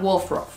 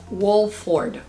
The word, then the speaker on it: Wolford: Eva Herzigova, que es una top model de toda la vida, tiene puesto este Etro and Wolfrof. Wolford. Ella no sabe pronunciar.